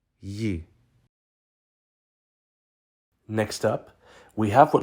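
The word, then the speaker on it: ї: dots on top this is the Ukrainian letter Yi Yi next up we have what looks like a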